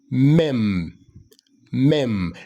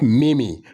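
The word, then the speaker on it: meme: you pronounce that word that word is pronounced as me me not me not Mimi but me me what a funny me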